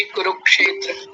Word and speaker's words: कुरुक्षेत्र: जी बताएंगे गुरु जी कुरुक्षेत्र कुरुक्षेत्र देखिए ध्यान रखिए र पर छोटे ऊ की मात्रा और ये जो बनेगा क्षेत्र ये कुरु के साथ क की आवाज आएगी कुरुक्षेत्र कुरुक्षेत्र क्योंकि अलग-अलग करेंगे